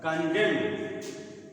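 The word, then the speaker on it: condemn: य उच्चारण होता है कंडम कंडम भी होता है कन डेम न इसमें भी उच्चारण नहीं होता कंडम तो इसे बहुत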